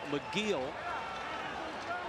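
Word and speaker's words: Michiel: plate so van campin who pronounces his first name mcgeal actually pitched in college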